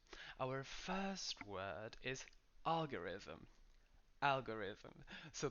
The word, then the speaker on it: algorithm: first word is algorithm algorithm so the stress is in the first syllable algorithm make sure that at